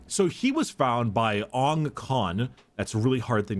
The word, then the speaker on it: Ong Khan: So he was found by Ong Khan. That's a really hard thing to pronounce.